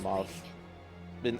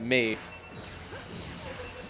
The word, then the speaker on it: Mauve: I could have actually put the Midnight Mauve. Midnight Maeve.